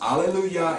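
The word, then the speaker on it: Ἀλληλουϊά: It is pronounced Alleluia in Greek, and then it is transliterated perfectly into the English language.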